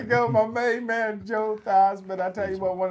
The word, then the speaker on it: Theismann: Joe Theismann. There you go. Joe Theismann. He rhymes with Heisman, so he became, he does have nice hair, doesn't Now I gotta go.